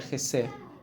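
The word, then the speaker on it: חסד: La palabra que nosotros vemos aquí como misericordia es una palabra hebrea que se pronuncia Jesed.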